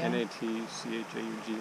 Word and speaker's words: Natchaug: Did you figure out how to pronounce that? It's the Natchaug State Forest. Yeah. N-A-T-C-H-A-U-G, Natchaug.